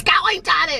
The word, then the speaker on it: Skellington: I guess I pronounced it wrong yesterday. People were real, they weren't so happy about it. I got a lot of messages. People were like, it's Skellington, it's Skellington.